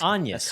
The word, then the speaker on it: Agnes: Agnes. Yeah, that's how they say it. That's how they say it. Um That's like as as in the Varda.